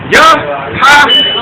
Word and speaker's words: Yahawashi: Yahawashi. Yahawashi. So this doesn't have an A, so but this one does. And when they're connected, it's S-H-I, so it's shy.